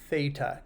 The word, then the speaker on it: theta: the way this little symbol here is it's pronounced theta t h e t a um it's often